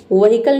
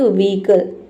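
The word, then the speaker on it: vehicle: बहुत सारा स्टूडेंट इसको पढ़ते हैं। व्हीकल। व्हीकल नहीं होता। ये होता है व्हीकल। ठीक है? व्हीकल। वी ईकल आपको ई का साउंड देना है। हल्का ई पढ़ना है।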